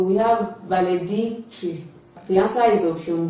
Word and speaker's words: valedictory: is d i c so the stress is on dick so we have valedictory the answer is option